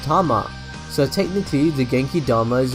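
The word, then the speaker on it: 玉: However, more commonly, Dama can mean ball or sphere. In this case, it's usually pronounced Tama.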